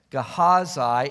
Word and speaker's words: Gehazi: Different people pronounce these Old Testament names differently, but I think the best pronunciation is Gehazi.